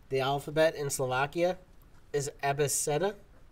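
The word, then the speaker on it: abeceda: The alphabet in Slovakia is Abeseta. You don't pronounce the C as K, you pronounce it as C. So it's Abeseta.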